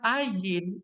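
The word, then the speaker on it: עין: gimana ya bacanya Ya kalau kita baca Ayin itu kan juga a ya Bapak Ibu tetapi vokal di dalam huruf Ibrani A itu Ayin itu dibaca kayak g g itu yang ada di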